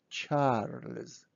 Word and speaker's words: Charles: So now we have Charles, Charles. So practically, when we say Charles, we pronounce kind of s at the end, but we write z, Charles.